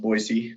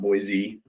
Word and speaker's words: Boise: county includes the capital boise here it is pronounced boise not boise just a little trivia there we include boise